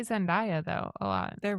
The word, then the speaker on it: Zendaya: It's Zendaya, but Zendaya would fit better with I feel like I hear people say Zendaya though a lot.